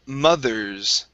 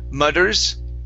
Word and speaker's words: mothers: up is the word mothers okay uh same thing here um right here instead of mudders it's mud mothers mothers good so let's try this